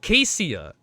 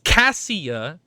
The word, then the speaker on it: Cassia: OH, SO IT'S AH, SO IT'S NOT CASEIA. It's Cassia AND HER NICKNAME AH, IT JUST CLICKED.